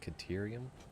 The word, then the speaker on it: caterium: can now be constructed Criterium scanning unlocked oh that's how they say it caterium oh that's how that thing says it had a real yeah